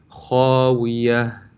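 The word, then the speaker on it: خاوية: For example, if I did not intend of stopping, it will sound like wa'iyatun, khawiyatun. But if I intend on stopping, it would become a ha with a sakin, so it will be pronounced wa'iyah, khawiyah, wa'iyah, khawiyah.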